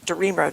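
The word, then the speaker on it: DeRemer: Darmer, that's how you say it.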